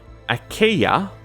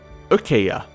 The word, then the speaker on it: Achaia: It is either pronounced Achaia or Achaia. Either way, it's like that.